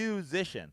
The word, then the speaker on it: Yousician: It's spelled, Musician. Spelled YOUSICIAN. Like musician, but you.